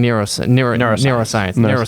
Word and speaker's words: neuroscience: I'm hearing neuroscience versus neuroscience. Sometimes I probably mispronounce it, but it probably doesn't matter too much, but it's neuroscience. Neuro, like ER. NERO.